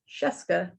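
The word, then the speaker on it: Scieszka: it's called astronauts by john sheska rhymes with fresca oh good i'm glad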